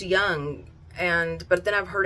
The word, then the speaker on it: Jung: remember she was like it's spelled j-u-n-g but it's pronounced young and but then i've